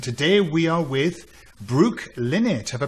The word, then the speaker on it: Lynott: And today we are with Brooke, Lynott. Have I pronounced your name correctly? I think it is. Well, my husband says Lynott, but there's some debate in our family, so Lynott is one of the pronunciations.